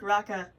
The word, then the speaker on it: Raka: guys really, really like Raka. That's how you say his name, by the way. He's named after the sound the Space Marines make in TMNT 2012.